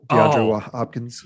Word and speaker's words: DeAndre Hopkins: I just want to point out that you mispronounced his name. Oh, did I? It's future Hall of Famer DeAndre Hopkins.